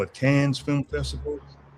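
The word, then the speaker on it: Cannes: some people call it can's film festival. Well, the proper pronunciation is can.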